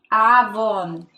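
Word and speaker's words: עוון: Iniquidad en hebreo es avon. Se escribe A, V, W-I-N.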